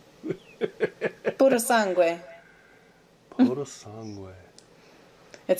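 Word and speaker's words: Purosangue: It's puro sangue, which means pure blood in Italian. Puro sangue. Try it. Puro sangue. Puro sangue.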